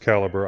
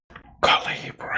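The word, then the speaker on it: calibre: It's actually pronounced caliber. I was corrected on this one. I've heard it both ways. I never knew which which way to call it. Calibbre.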